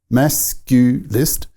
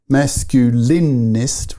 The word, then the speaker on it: masculist: Because, I guess it's the firstly, the word itself, masculist. It's not masculinist with 4 syllables. No, it's just 3.